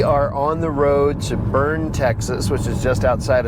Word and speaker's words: Boerne: trip to Boerne, Texas, which I am going to mispronounce for the first 270 miles of this trip, but I will get it right eventually. It is called Boerne.